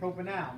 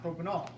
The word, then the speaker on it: propanal: name of the alahh it says propanal that's how you're supposed to say it propanal not propol so he would say My Pal to get us to remember how to say it correctly and it ends in a like Al so propenal is how